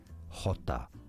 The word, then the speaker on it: Jota: They don't call it J, of course, they call it Jota.